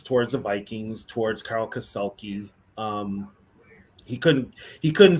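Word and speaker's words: Kassulke: the Vikings, towards Carl Kasulki. He couldn't say his name, so he called him Kasuki. He couldn't say Kasulki.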